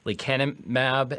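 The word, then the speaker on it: lecanemab: two drugs uh we talked about earlier that's leanimab and donenomab. Um, I'm going to spell those uh for folks in case my pronunciation is terrible.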